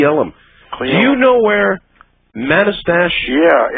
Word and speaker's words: Manastash: Do you know where Manastash? Yeah, it's pronounced Manastash.